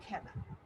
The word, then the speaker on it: খেলা: কারণ এখানে এ ধ্বনির উচ্চারণটা এর মতো হয়েছে, তাই সংবৃত উচ্চারণের উদাহরণ হচ্ছে খেলা।